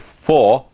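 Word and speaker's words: Vlies: e s v lies but it's German word for fleece and it is actually pronounced F you needed to know you needed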